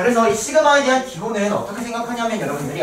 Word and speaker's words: 시그마: 하세요 어떻게 표현을 하냐면 보세요 여러분들 이렇게 편해요 시그마라고 읽어요 시그마 시그마 일단 선생님 써 놓고 얘기해줄게 이렇게 기울어